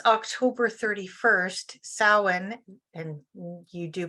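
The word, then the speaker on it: Samhain: so according to Pagan tradition it's October 31st Salin and you do pronounce them a little differently um Salin is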